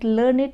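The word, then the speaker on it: learned: describing word ठीक है we pronounce it एज लर्नेट to rhyme with क्रिएटेडटेड अब हम जो लर्नेट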